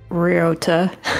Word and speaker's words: Ryota: gonna try I'm scared so you say like Rio but you kind of just been huh you not slur it but kind of like how do you how would I explain it it's like real but you're putting the emphasis on the the RAR Rio ryota yeah yeah like that